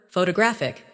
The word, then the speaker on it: photographic: The stress moves, and that changes the sound. Try saying them slowly after me. Photograph, photographer, photographic.